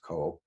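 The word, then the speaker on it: 口: woman, and for the word in modern Chinese pronounced ko, mouth.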